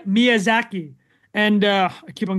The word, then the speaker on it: Miyazaki: about uh hayo right we should talk about hay mizaki sorry M Miyazaki and uh I keep on getting I always get his name wrong but the co-founder of Studio ji and